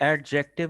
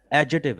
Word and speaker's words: adjective: आ, आ, आ, ये एडजेक्टिव नहीं है बेटा, एडजेटिव है, Adjective.